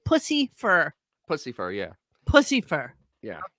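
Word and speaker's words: Puscifer: That cannot be the way it's spelled. No, it's Pussifer. Pussifer. Oh, like pussy fur.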